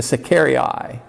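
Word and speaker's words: sicarii: uh is called and in latin i think it the pronunciation is a secari eye it was a dagger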